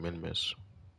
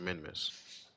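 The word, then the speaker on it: Minmus: then we're going to get to minimus or well, let me let me word it correctly. Pronounce. All right. So, we're going to get to the month. Then, we're going to get to Minmiss.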